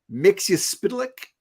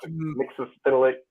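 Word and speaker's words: Mxyzptlk: Mixiaspitalik. Oh, okay. That's Yeah. really that's Mixes Spitalik. That's the way I yeah. always said it. Mixaspitalik is pretty The, close to how they say it.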